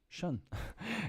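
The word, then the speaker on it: -tion: The shun or shun is pronounced shun. It sounds similar to the word shin.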